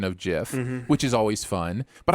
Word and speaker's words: GIF: video uh trigger warning the narrator pro you know prefers a soft uh uh g pronunciation of uh jiff and then the comments